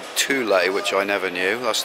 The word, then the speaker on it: Thule: I've been told what it's called actually called Thule which I never knew that's the proper pronunciation so this is their vehicle side of